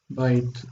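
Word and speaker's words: בית: And the accent is on the beginning, so it's bite.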